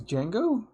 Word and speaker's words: Django: your dad's name is django yes i thought it was like the d is silent shut up i thought